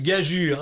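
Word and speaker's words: gageure: Gageur se prononce gagure.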